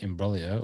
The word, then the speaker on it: imbroglio: there and you pronoun you tried to pronounce it with your best italian accent there in brolya or as i like to say in broglio um i believe the